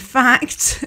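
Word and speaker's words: Phact: And Fact, it's spelt not with an F, it's spelt with a P-H-A-C-T, and that's in the Dove.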